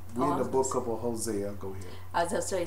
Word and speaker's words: Hosea: book of a we many people pronounce it hosan Hosea oh how you pronounce